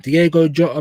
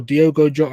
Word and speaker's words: Diogo Jota: Like Diego Jota, bro, or Diogo Jota. I keep saying Diego, bro.